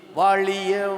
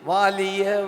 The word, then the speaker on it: வாழிய: வாழ்க நிரந்தரம் வாழ்க தமிழ் மொழி வாலிய வாலியவே, இது வாலிய என்று படிக்கிறார்கள் சில இடத்தில். ஏன் அவன் படிக்கிறான் அப்படி? அங்க லீ எப்படி லீயாக வந்தது? ஏன் அவன் அந்த பிளவிடுகிறான்? இது உச்சரித்து சொல்லி கொடுத்து திருத்துற விஷயம் இல்லை. அவனுக்கு அந்த லீ எப்படி பிறக்க வேணும், அது வருடல் ஒலி. இதுக்கு இங்கால் நீங்கள் கொண்டு வந்தால் அது லீயாக மாறிடும்.